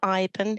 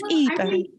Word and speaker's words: Iben: We pronounce the E instead of the I.